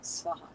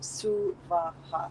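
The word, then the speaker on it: Svaha: energy of Gayatri to say it like Om Bhur Bhuva Swaha. Don't do that. Suvaha, 3 separate equal syllables.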